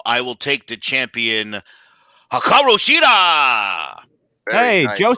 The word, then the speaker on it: Hikaru Shida: I will take the champion, Hikaru Shida.